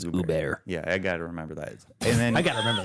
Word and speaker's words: Hubert: Uber pronounced Hubert or it's spelled Hubert but the French pronunciation is Uber yeah I got to